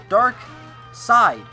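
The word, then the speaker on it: Darkseid: Now, we've talked about this before and I pronounced it wrong a while ago. Justice League villain is rumored. Dark Side.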